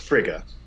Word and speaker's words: Frigga: In classic Norse mythology, it's sometimes pronounced Freya, um, and then in more English versions, it's pronounced Frigga. But I like to go Frigga.